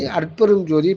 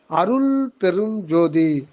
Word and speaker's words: அருட்பெருஞ்ஜோதி: ஆனா அத அதை வந்து அருட்பெருஞ்ஜோதியை பிரிக்க முடியாது அதனால அருள் பெருஞ்ஜோதி அப்படின்னு சொல்லக்கூடாது அருள் பெரும் ஜோதின்னு சொல்லிட்டா மூணு வார்த்தைகளா வந்து அப்படி சொல்லக்கூடாது அதை அண்டர்ஸ்டாண்டிங்க்காக நாம பெற்றுக்கொள்றோமே தவிர அதை உச்சரிக்கும் போது அருட்பெருஞ்ஜோதி அப்படின்னு தான் அதை உச்சரிக்கணும் அருட்பெருஞ்ஜோதி அருட்பெருஞ்ஜோதி தனிப்பெரும் கருணை